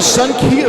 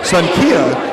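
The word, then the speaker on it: Xankia: Head over to Sun Kia Vietnamese restaurant for 15% off your entire bill.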